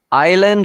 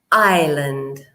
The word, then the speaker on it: island: okay we don't present we don't pronounce the S okay I Lind now